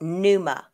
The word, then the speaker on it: pneuma: i think that the it's pronounced pneuma like pneumothorax right exactly so let me